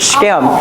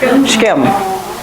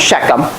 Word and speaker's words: Shechem: That's how they pronounce it, Shechem. It's a one-syllable word, Shechem. Okay? Not Shechem. Let me show you, you're an English speaker if you say Shechem.